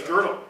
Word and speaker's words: Gödel: Okay, it's Godel. Okay, now I'm talking about Godel. Ah, it's called the incompleteness theorem. Yes. Right. Ah, okay. Good. Okay, I would pronounce it Godel.